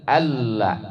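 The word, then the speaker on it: أن لا: Pengucapannya adalah ashadu alla an nun ke lam itu idgam ee bilaguna.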